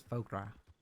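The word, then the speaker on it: foie gras: is it pho egr i think it's fogra i know the s isn't pronounced anyway um okay so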